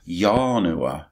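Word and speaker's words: ianua: mentioned the word door yah Noah is that's how it's pronounced in Latin it means a door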